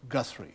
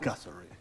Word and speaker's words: Guthrie: Pronounced Guthrie, you understand, not Guthrie. Extended the syllable.